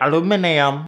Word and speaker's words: aluminium: Some of the vaccines contain trace amounts of aluminum, or as the British say, aluminium, but it's similar amounts to what's found in water or food that you are already eating.